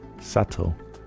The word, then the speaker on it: subtle: Subtle. The B comes from subtilis, but we don't pronounce it.